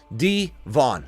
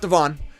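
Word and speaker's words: D'Von: first name wrong too it's D Von it it's like D Von not Devon D Von Anan so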